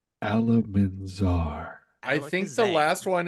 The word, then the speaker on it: Alamanzar: It's okay, Oliver, because I said it wrong. It was actually Alamanzar. Alamanzar.